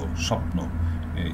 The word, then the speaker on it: স্বপ্ন: তেমনি বফলার উচ্চারণের বেলায় আরও একটি নিয়মের কথা বলি আপনাদের, এইটি যখন শব্দ শুরুতে থাকে যেমন তখন কিন্তু যেমন স্বচ্ছ স্বপ্ন এই বফলার উচ্চারণটাই হয় না, উচ্চ থাকে, কিন্তু শব্দের